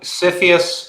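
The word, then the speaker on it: CFIUS: different from that okay so cyphus sounds like syphilis just as easy to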